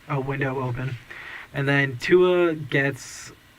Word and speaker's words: Tua: And then Tua gets... How do you say Tua? T.O. But T.U. I've learned.